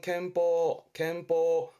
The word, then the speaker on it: 憲法: 발음은 캠퍼, 음으로는 캔 가서 캠퍼, 위자에 썼죠.